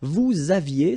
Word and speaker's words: vous aviez: Vous aviez, same thing here, a little liaison.